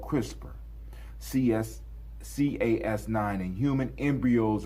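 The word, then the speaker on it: CRISPR: Pronounced crisper stand for clustered regularly interspace shorter palendroic repeat.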